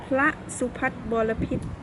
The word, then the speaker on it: Phra Suphattharabophit: pronouncing this name right. So please let us know. Okay. They call Phra Suphattharabophit. Oh, okay. Phra Suphattharabophit.